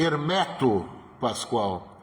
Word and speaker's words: Hermeto Pascoal: E ele sempre e ele dizia nas aulas: "Não me chamem de Hermeto, meu nome é Hermeto Pascoal". Hermeto Pascoal. Então fica essa correção para pronunciar corretamente o nome do mestre Hermeto Pascoal.